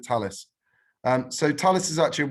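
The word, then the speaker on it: Thales: So when I worked at Leonardo, we used to call Talis Fails because that's how it's spelt. But when I got here, they told me not to call it that. I have to call it Talis.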